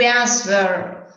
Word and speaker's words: answer: Answer, come se la W non ci fosse.